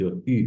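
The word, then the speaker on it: août: เตียม เดน นะ ครับ ก็ จะ ออก เสียง ว่า อุ นะ ครับ เดือน สิงหาคม สิงหาคม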